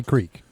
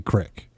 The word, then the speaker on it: creek: I'm from New York I would say Creek around here where I'm where I'm living currently they would say cek say it's like yeah I I I know how to say the word I'm saying that in this area they would say Crick it's like out here